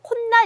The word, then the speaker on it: 콧날: 코 + 날이 만나서 지금 발음이 어떻게 되는지 아마 발음 해보시겠어요 맞아요 콘나 이렇게 되어 콧날 혼날 이렇게 발음이 됩니다 그렇기에 도 2와 몸이